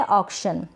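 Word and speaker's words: auction: या परिस्थिति यह है ऑक्शन क्या है ऑक्शन ऑक्शन ये ए यू है ना इसको अ पढ़ा जा रहा है ये भी मैंने आप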